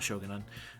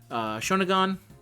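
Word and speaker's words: Shōnagon: We have Summer Kama, Canis, Sei Shogunan, not Shogunan, Shonagon. I feel like I pronounced it the exact same regardless.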